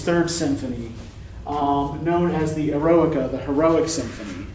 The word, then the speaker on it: Eroica: Symphony, known as the Eroica, the Heroic Symphony, right? Not erotica. Students often make this mistake. No, there's no T in there, right? Eroica.